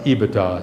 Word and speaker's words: EBITDA: career this this term ebitda that's how it's pronounced by the way ebitda i see it others pronouncing it different ways